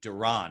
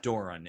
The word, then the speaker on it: Doron: okay duran right it's not doran it's duran in your case toronto usually okay